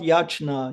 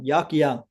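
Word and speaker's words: यज्ञ: It's not yajna, yagya. Yes, ягья. Yagya dana. Yes. Ягья правильно произносить слово нужно, не яджна.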